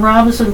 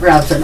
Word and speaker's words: Robeson: full-service offices located in Robeson, Hoke, and Cumberland counties. Was Robeson pronounced correctly, or is it Robeson? Oh, you pronounced it correctly. I got it, Robeson.